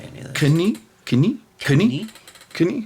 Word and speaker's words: Canik: Some guys say Janik. That's like one of those weird guys that's really into French stuff. Yeah. Canik? Yeah. I don't know how they say it, but I was impressed by all the stuff they have. Go watch my Canik Mete review. That's how I say it.